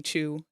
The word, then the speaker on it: Chu: Several of their names are puns, like Tony Chu. His last name is spelled C-H-U, but obviously is a pun on the name of the comic, which is chew, as in to eat.